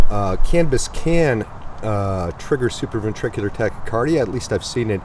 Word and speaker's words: supraventricular tachycardia: sometimes trigger uh now tell me if I'm pronouncing this wrong superv ventricular uh tachiarda well you're close it's super ventricular tachycardia we'll just call it